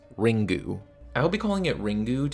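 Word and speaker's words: リング: out in 1998 and is pronounced in japanese ringu i'll be calling it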